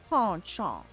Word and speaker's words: penchant: Penchant.